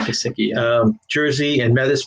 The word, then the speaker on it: Gesicki: Just because he has a Gesicki, is that how it's pronounced? Gesicki? Yeah, Mike Gesicki.